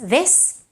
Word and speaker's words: this: So very often we mispronounce words like, for example, this, which ends in an S, this, and we may say this is nice.